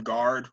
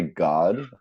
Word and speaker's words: Guard: Guard, but I have to say it like guard for you guys to understand it. If I say God, and everyone's like, "What? Like, what are you saying?"